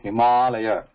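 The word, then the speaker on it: हिमालय: So here, see this, it is Himalaya. Stop there. Ma. Means, stop means extend it. Himalaya.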